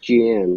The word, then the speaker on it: Jian: It's just Jian, like GEANNE. Jian.